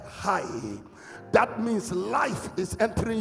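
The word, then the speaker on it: חי: But they spell it like C H A I translation literation. If you read it, you may think it is chai. But it is high.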